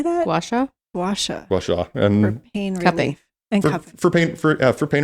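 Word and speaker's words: gua sha: Washa.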